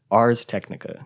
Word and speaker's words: Ars Technica: Ars Technica.